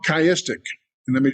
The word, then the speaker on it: chiastic: There's another form of parallelism that is actually, it is synonymous parallelism, but it's called chiastic. And let me spell that for you because I didn't put it in the notes.